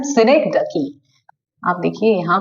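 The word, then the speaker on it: synecdoche: लिए यूज किया गया है जिसको बोलते हैं सिनेक्डकी। आप देखिए यहाँ पे यूज हुआ है सिनेक्डकी। ओके, सिनेक्डकी स्पेलिंग क्या है?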